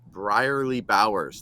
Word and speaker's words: Brierley-Bowers: gonna have introduce you guys to to Keith briarly Bowers did I say the last name right yes